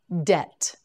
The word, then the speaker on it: debt: with my father debate debt debt T debt you say it debt mm again debt that's right you don't pronounce the b it's silent debt debt is an